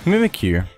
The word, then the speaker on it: Mimikyu: Anyway, Mimikyu. I think that's how to pronounce that. I mean, it makes sense. It's mimicking you.